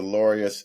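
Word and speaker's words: Laureus: with them yeah the lorious it's pronounced like the word glorious it's l u r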